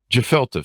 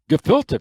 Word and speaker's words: gefilte: think i'm in correction jafalta fish is it is that pronounced right the jafalta fish i i still didn't catch that jafalta fish gefilte fish okay that's the problem